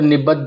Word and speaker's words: निबद्ध: तो निबद्ध तो निबद्ध अब ये द के नीचे द है तो हमको दोनों का उच्चारण करना पड़ेगा। इसलिए हम द के ऊपर जोर देते हुए द बोलते हैं।